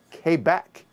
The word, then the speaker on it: Quebec: get into power grid k back which i found out is actually how the natives up there pronounce it i just know it's